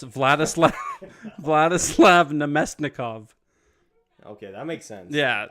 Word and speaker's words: Vladislav Namestnikov: Vladislav Namesnikov. Yeah, no, it's Vladislav Namestnikov.